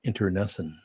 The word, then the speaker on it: internecine: And in a very sweet voice, the door would open and Charlie would look at me and go, Tom, that's pronounced internecine.